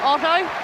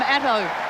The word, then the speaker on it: Ato: championships there's ato been some conjecture about how to pronounce his name but david colbert did go up and ask him the other day and he said it's not auto i'm not a car it's not otto i'm atto well he's the bronze